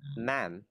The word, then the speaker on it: ma'am: Đấy, nó là ma'am.